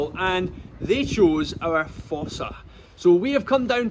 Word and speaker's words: fossa: about this species, about fossas in general. They're quite weird. Many of you at home may never have heard of fossas before. So the fossa, or sometimes pronounced Fossa, comes from over in Madagascar.